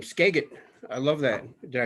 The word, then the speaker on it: Skagit: heart and you know there's another new name skagit i love that did i say it right